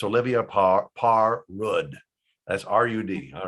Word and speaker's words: Olivia Parr-Rud: You contact this lady, and you don't have to know how to pronounce her name correctly, but it's Olivia Parr-Rud.